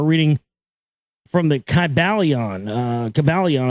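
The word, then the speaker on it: Kybalion: from the calion uh cabalion I think is how you say it KY b a l i o n KYB a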